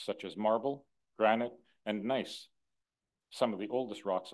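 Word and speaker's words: gneiss: of ancient rocks such as marble granite and nice some of the oldest rocks on Earth by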